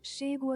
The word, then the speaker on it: chego: So let me get this pronunciation also. Um Shigo a casa. I arrive from Chego a casa.